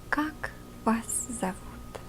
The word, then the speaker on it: Как вас зовут: told you before, that if this part of the word is not stressed, O is being transferred into a sound A. So it's Как вас зовут, with the A pronouncing Как вас зовут.